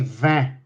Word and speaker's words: vin: because in french okay when we say wine we say van we can also make